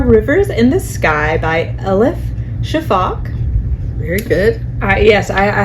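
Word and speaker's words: Elif Shafak: right there are rivers in the Sky by El Shaak very good yes I I had to Google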